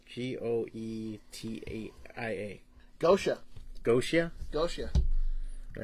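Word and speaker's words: Goetia: to say these words uh how do you pronounce g-o-e-t-a-i-a Gosha Gosha Gosha all right because that was like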